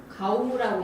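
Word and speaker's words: GAW: 이제 가우라고 읽습니다. 보통 가우, 지구, 대기, 감시.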